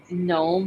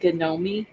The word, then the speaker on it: gnome: say any names but she doesn't pronounce it gnome she pronounces it gomi and every time I